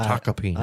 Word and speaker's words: Tacopina: It is spelled with an M, but it's Taka is the pronunciation. Taka peanut.